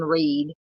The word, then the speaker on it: Read: Pronounced like Reed. Okay, thank you, Nan. I kept wanting to say Red. Karen Reed.